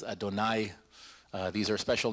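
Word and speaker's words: אֲדֹנָי: other names as well the tetragrammaton of course yo Dave of hay which is pronounced as Adonai these are special names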